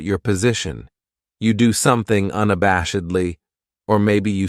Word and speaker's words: unabashedly: weekend then we have unabashedly this adverb has five syllables and the stress is on that third syllable that bash unabashedly that second syllable has that schah that uh sound unabashedly what it means